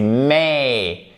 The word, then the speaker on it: may: Et faites attention, c'est may et c'est rain. Là aussi, on a deux diphtongues. Donc, si vous dites it may rain, la personne, elle va vous regarder.